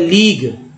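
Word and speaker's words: league: उसके बाद लीग, लीग यू के पहले जी आ गया तो उच्चारण भी हो गया, यू को साइलेंट कर दिया गया और जी ई का उच्चारण हुआ है तो लीग।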